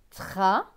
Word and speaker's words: travail: T et R. TR se prononce tr. Avec le A, cela donne tra. V avec A-I-L. A-I-L se prononce aille. Donc V et aille, vaille. Donc ce mot va se lire travail.